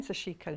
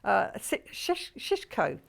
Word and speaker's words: sashiko: have to keep saying sashiko now shishko why aren't you pronouncing the eye in the middle okay well she she's